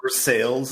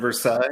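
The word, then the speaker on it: Versailles: Worster yeah yep yeah what about ver sales instead of ver yeah okay so anyway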